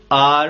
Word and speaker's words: our: इट्स आर पेन। आर मतलब हमारा। Americans आर को आवर बोलते हैं। आवर भी करेक्ट प्रोनाउंसिएशन है, करेक्ट बोलने का तरीका है।